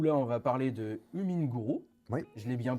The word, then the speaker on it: HumminGuru: de Renault, où là on va parler de Huminguru, Oui, je l'ai bien prononcé, tu l'as bien prononcé, Hummingbird.